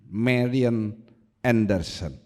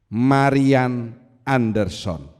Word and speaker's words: Marian Anderson: lehat namanya Marian Anderson Mari Anderson itu bacanya Marian Anderson The First African American